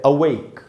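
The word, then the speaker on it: awake: Adjective में पहले मैं आपको बता दूं इसका उच्चारण वो है अवेक, और जब ये एडजेक्टिव होता है विशेषण की तरह जब यूज करेंगे तब इसका मीनिंग होता है जगा हुआ।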